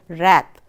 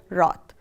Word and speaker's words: wrath: Some people also pronounce it as wrath. So I would like to pronounce it as wrath.